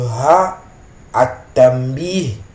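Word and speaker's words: هَا: al muzakkar, et le ha at-tanbih, le ha pour attirer l'attention sur quelque chose. Le alif de ce ha est prononcé mais pas écrit.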